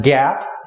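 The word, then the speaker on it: GAAP: are generally known as generally accepted accounting principles or pronounced Gap and they are the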